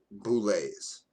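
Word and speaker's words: bulette: Example is like boulets. I don't know if you know that. That's pronounced bullet. It's spelled bullet, but it's pronounced boulet, right?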